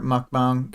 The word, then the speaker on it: mukbang: So Greg says, despite the spelling, it's pronounced bong, so I did pronounce it right the first time.